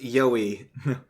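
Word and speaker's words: yahoi: next one says Daniel y a oi is pronounced yoy thanks for teaching me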